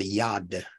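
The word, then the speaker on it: yod: There's a Hebrew letter called yad, Y-O-D, there we go, yad, that I believe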